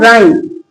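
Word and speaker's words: rhyme: जब स्पेलिंग के शुरू में आर एच हो तो एच का साउंड नहीं आएगा।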